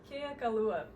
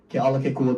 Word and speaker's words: Kealakekua: Keakalua.